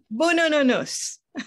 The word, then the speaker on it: Boonoonoonous: Okay, and the first thing is a pronunciation, okay. Which is Boonoonoonous.